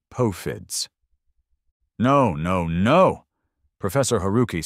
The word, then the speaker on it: POFDS: POFDS, pronounced poe-fids.